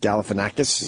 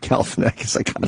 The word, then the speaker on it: Galifianakis: All right, when we get back, we got the Obama Funny or Die interview with Zach Galifianakis. Yes, I want to hear that. I could finally pronounce his name after all these years.